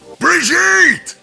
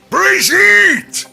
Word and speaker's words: Brigitte: homeland of Germany however the way Reinhardt pronounces it is more in line with a French origin Bridget Bridget interestingly one of the